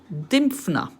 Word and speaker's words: Dymphna: this description it's now showing me how to pronounce it and it is indeed dymfna so i actually did quite well was a